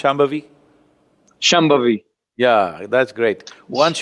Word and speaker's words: Shambhavi: So this process is called Shambhavi. Can you pronounce Shambhavi?